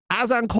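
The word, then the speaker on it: Azincourt: Ita actually pronounced Azenor battle of Aenor.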